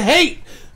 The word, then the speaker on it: Haight: know I mean I'm thinking the only other Heights that I know is Haight and Ashbury in